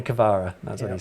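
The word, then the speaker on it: Kvara: have pronounced it wrong in his own words just call me cavara that's what he said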